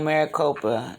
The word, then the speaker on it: Maricopa: know um i've always hear bad things about maricopa that's how you say it yeah yeah there's